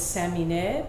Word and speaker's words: Samineh: because I you know I come from a Persian Iranian background and my name is Sammy Ned but I grew up